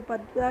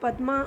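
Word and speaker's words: পদ্মা: में माना जाता है तो पद्दा के नाम से जो है पद्दा इसको बोलते हैं तो पद्मा जो है हमलोग लोग प्रोनाउंस करते ले किन बंगोली लोग इसको पद्मा ही बोलता है पद्दा ही बोलता है ठीक है तो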